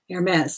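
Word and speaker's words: Hermès: the time air AES Aires not a ma Aires the H is silent okay it's a prestigious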